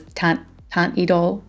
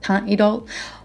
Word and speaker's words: Teint Idole: My French accent has always been bad, but I believe that you pronounce this Teint Idole, not Teint Idole, but Teint Idole.